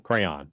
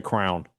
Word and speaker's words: crayon: How do you pronounce that word? Crayon. Crayon. That's correct. Anybody crown is Is there Is there another pronunciation? People say crown. Oh, that's that's psychopathic.